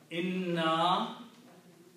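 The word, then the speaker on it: إِنَّا: inna here, you have to elongate this word here. Otherwise, the meaning will be different. Inna by itself means surely. And this inna means surely we. Okay. Meaning is different, so we have to pronounce correctly, otherwise we will be mispronouncing, mistranslating the word.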